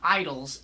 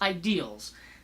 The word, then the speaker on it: ideals: And that's not and it's not it's not idols, it's ideals.